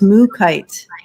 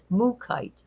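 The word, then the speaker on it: Mookaite: So it's pronounced Mookite. Mookite.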